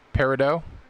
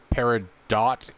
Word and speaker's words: peridot: doable but so that's the appropriate way to pronounce peridot um parrot dot is definitely the character but they're pronouncing they're not pronouncing the stone right okay so you're doing